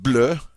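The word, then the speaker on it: bleue: singular form is BL now it sounds the same as the masculine form it doesn't change the pronunciation all right it's pronounced blur but you'll notice it's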